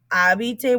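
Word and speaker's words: habite: is a contraction because abite we don't hear that h so javite elsa infinity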